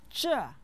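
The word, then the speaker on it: 这: after me Shama sama-sama Jah means this it has a fourth term listen sure sure sure Sager after me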